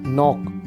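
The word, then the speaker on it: knock: नॉक, ये भी के साइलेंट है, इसमें के बोला नहीं जाता।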